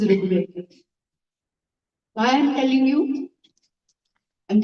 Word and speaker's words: Rigveda: They would pronounce it as if it is Ra and then Rukar. They didn't know even that there is a vowel called Ru, which is Rigveda.